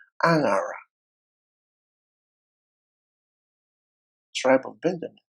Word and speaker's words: Angara: there that is called Angara, tribe of Benjamin. It's pronounced Anara, but it's called Angara village.